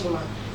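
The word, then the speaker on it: Xima: Shima is actually spelled X-I-M-A, pronounced Shima.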